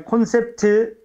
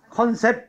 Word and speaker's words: 콘셉트: 자, 아무튼 윈도우가 나왔고, 그다음에 콘셉트 맞았지? 이것도 여러분들 뭐라고 발음해서 많이 틀려? 컨셉 이래서 많이 틀리지. 컨셉. 컨셉은 안 되고 콘셉트.